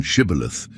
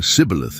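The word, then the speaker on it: Shibboleth: The Ephraamites couldn't pronounce the esh sound in Shibilith, saying cibilith instead.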